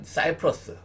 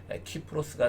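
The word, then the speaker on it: Κύπρος: 우리 한글 명칭인데 구브로스, 그러니까 사이프러스, 그것도 영어식 발음이죠. 정확하게 말하면 원어를 중시하면 키프로스가 되겠습니다.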